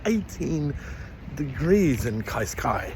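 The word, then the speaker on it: Cascais: It was like 18 degrees in Kaiskai, which is, I've been told, the correct way to pronounce it, not couscous or whatever the hell I was saying.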